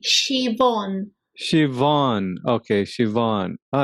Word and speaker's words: Siobhan: Or is it pronounced as a V? Siobhan. With V, Siobhan.